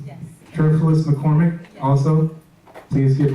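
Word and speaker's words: Cherfilus: Sheila Cherfulis? Yes. Cherfulis McCormick, yes.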